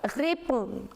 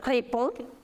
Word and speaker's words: réponds: Now, je réponds, the pronunciation. Je réponds, tu réponds. You do not pronounce this D and S, no.